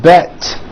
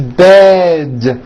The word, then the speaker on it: bed: Bed has a voiced D ending. It's not bet with an unvoiced T, it's bed with a voiced D.